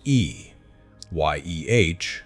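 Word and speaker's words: Ehyeh: The word is E-H-Y-E-H, pronounced E, Y-E-H, 2 syllables, with the emphasis on the first syllable, spoken as a single breath.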